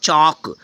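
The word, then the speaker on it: chalk: के क्या है friends C एच ए एल के होगा चौक चौक लिखने वाला चौक तो एल क्या हो गया साइलेंट हो गया हो गया चौक ठीक है अब नेक्स्ट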